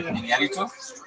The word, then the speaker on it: Iñárritu: And I think Iñárritu, you have to say his name right. There's an accent on the thing. Can I try? Iñárritu. No, wait, pretty good. That was good. Yeah. Iñárritu?